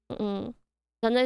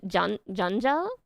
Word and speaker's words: Janja: Janja is not pronounced with those English J's still. Is it Janja?